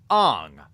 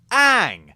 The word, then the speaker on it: Aang: They call him Aang Instead of Aang. Now, I can understand why they'd think it was pronounced Aang, because it's two A's and G.